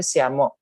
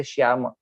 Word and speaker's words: Syama: 8th century is that all the three shas are pronounced in the Dantya version. So we will say Syama, we will not say Shyama.